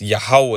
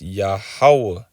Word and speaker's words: Yahweh: And when you say it all together, it's Yahweh.